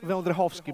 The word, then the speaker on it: Wędrychowski: because of the bird my name is vendrickovsky by all but all friends know me as